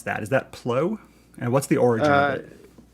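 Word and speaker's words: ploeh: pronounce that is that plo and what's the origin uh yeah well i you know if um i pronounce it plur play um but the origin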